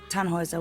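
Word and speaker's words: Tannhäuser: Tannhauser. We'd pronounce it Tannhauser with an umlaut.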